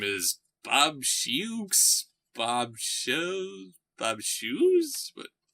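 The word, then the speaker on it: Bob Sheaux: you and said the guy whose name is bob schuchs bob shows bob's shoes what bob show bob show right thank you i've been a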